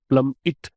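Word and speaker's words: plummet: प्लमिट, क्या प्रोनाउंसिएशन है? प्लम इट। इट है, एट नहीं है।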